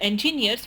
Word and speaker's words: engineers: must withstand and the engineers must consider these forces for safety engineers engineers engineers anytime you have a word that ends in eer you typically put the stress on the last syllable she states two types